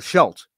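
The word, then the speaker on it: Scheldt: bad news is the the shell Estuary not the slack right really didn't pronounce that correctly in the last time though I'm correct myself this time uh the Shelt which is a uh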